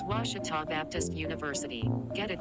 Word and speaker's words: Ouachita: were at ouachita i've heard people say oh a cheetah oh wish tall oh a cheetah is it pronounced oh aikida searching for washi at a baptist university back in texas everybody pronounces it wichita but really it's ouachita washington how would you